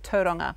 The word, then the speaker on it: Tauranga: But interesting that you say Tauranga, because that's how they used to pronounce it then, and then we went into Tauranga. Now we've gone back to Tauranga.